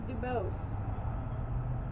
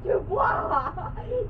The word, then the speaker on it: Dubose: Dubose. It's Miss Dubois to you, child.